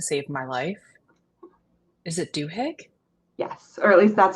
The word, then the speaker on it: Duhigg: Is it Duhigg? Yes, or at least that's how I've been pronouncing it.